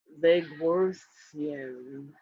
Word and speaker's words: Legworthian: The name that came to me that it's an approximation for the people of that planet, or my people, was Legworthian. Legworthian. Spell it.